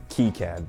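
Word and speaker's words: KiCad: That's right, people, it's pronounced Keycad.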